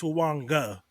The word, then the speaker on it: Fuaga: Fuaga? Or the dude from Pitt, or the dude from Penn State. Fuaga. Dude from Penn State. No, Fuaga. No, Fuaga. So it's actually pronounced with an N. It's Fuanga.